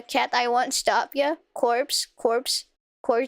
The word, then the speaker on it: Corps: The PS is silent? I can't believe this. The Marine Corps? It is funky without the E, corpse, as a group.